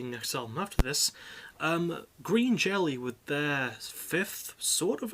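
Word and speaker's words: Green Jellÿ: original songs so um green jelly are or green jello as they're pronounced even though it's a y with an omelette over it are a comedy metal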